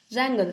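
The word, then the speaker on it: wrangle: रैंगल, हाँ इसमें W silent है इसीलिए इसको पढ़ते हैं रैंगल.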